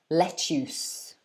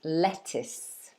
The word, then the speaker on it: lettuce: is this one now a lot of people pronounce this wrongly i've heard some of my students say things like um let's use okay because of the you they get confused and say us but actually it's is so it's pronounced lettuce like this if you have a look at the phonetics it's that i sound again that short e lettuce lettuce okay um donghan